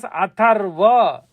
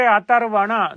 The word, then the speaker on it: Atharva: section was known as Atharva. And it is not the correct way to say Atharvana. No. Atharva. That's all. Atharvana is mishandling of the term. You have to say Atharva Veda, not Atharvana.